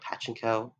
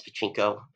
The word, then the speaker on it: Pachinko: So apparently I've been saying it wrong for the past few months. I've been pronouncing it Pachinko. It's Pachinko.